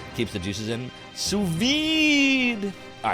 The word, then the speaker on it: vide: The vide in sous vide is pronounced vide.